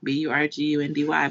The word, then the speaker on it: Burgundy: talked about this before there's a street called spelled burgundy b-u-r-g-u-n-d-y but it was pronounced burgundy oh and um calliope